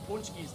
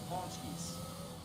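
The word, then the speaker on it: pączki: I need some punchkis though. Pawnskis. How it's supposed to be pronounced, but my Busha always told me punchki.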